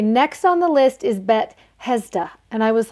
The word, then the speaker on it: Bethesda: on the list is BET hezda and I was like wait what why did you just say it like that bet hezda and he's like oh just the same as like Bethlehem which we know Bethlehem